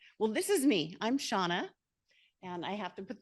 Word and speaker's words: Seanna: all the time because it is spelled wonky but it's Irish and there's nothing there's no good rules with Irish so um I am